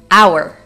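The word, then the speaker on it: hour: for this letter is our our my dears as you can see I am NOT pronouncing the first letter H so this is our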